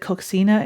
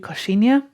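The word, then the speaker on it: coxinha: Uh, also earlier I said Coxina is actually koshinia. It's a little Brazilian snack.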